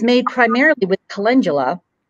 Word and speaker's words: calendula: who don't know what is Cullen is it calendula am I saying it right yeah so I